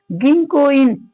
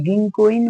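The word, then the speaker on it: 銀行員: गिङकोइन भनेको बैंक कर्मचारी अब यसको उच्चारण हामीले ध्यान दिनुपर्छ गिङ यहाँ उच्चारण गर्नु पर्यो है को उच्चारण कहि म हुन्छ काहि न हुन्छ कहि हुन्छ भन्या छ नि त जेनरली क अथवा ग को लाइनको अक्षर क का काकी कु के को गा कि के गो भन्दा अगाडी यो न अक्षर आयो भने यसको उच्चार गर्नुपर्छ त्यसकारण हामीले प्रनाउन्सिएसन राम्रो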